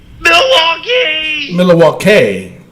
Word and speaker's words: Milwaukee: actually happened that one night in Milwaukee hmm Milwaukee Milwaukee that's how you're supposed to pronounce it anyway um so some somebody comment